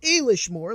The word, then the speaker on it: Éilís Mór: door in the last episode we came to a leash more looked it up that's how it's pronounced we're supposedly the cron Midian is which